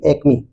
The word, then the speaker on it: acme: 10वां word है ACME, that means इसका it's pronunciation will be एक्मी। ACME, it's pronunciation will be एक्मी, that means शिखर, सर्वोच्च बिंदु।